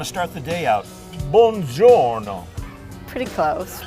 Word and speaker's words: buongiorno: Buongiorno. Pretty close. Buon giorno.